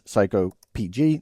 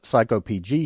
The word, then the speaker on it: psycopg: So, that is psycopg. That's how I pronounce it.